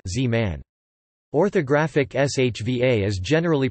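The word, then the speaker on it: זמן: it was silent, whereas the shva in zeman time, which was pronounced historically, is usually silent z-man.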